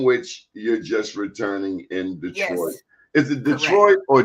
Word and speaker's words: Detroit: It was more like Detroit. Detroit. I don't say Detroit. It's Detroit. It's all one syllable. Detroit. 2 syllables. Detroit. It's not like an extra whatever.